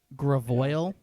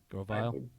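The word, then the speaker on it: Grovyle: You guys are Gravoil. Grovile. Yeah, Gravoil. It is pronounced the way you pronounce it.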